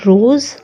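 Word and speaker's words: rose: भी ववल आ जाए, इस कॉम्बिनेशन में हमेशा स का प्रोनाउंसिएशन होगा ज, स नहीं होगा, हमेशा ज बनेगा. सो इसलिए ये वर्ड होगा रोज़ माने पिंक.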